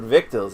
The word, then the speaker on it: victuals: Never heard the word victuals, eh, Speedy? Swing out here on the trail. Doesn't look like it, but it rhymes with little.